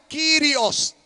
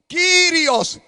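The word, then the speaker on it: κύριος: significa maestro amo dueño en el griego amén se pronuncia sirios sirios en letra mayúscula sirios yo soy tu señor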